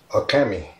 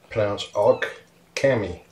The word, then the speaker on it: Occamy: Okay, the girl is Occamy. Pronounced awk-cammy. Occamy.